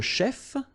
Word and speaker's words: chef: Un chef, so remember, CH, it will give you the sh sound.